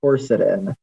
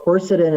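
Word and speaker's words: quercetin: So the the very first thing that almost any naturopath will will say for allergies is something called corsetin. And uh corsetin is a supplement that you can get in capsules.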